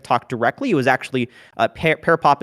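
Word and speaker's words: PearPop: there are websites like pair pop pair pop is not associated with tech talk directly it was actually parapop is spelled um p-e-a-r-p-o-p pair like the fruit and it is a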